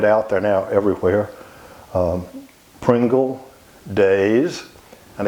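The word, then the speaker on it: Deas: Pringle, Days, and again, that's our pronunciation of D-E-A-S. Everywhere else, it's D's.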